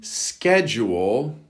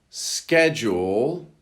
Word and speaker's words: schedule: Number 79, schedule. Schedule. That's the American pronunciation. or the British schedule, schedule. This is a noun, which is a weekly or daily plan, any sort of a plan.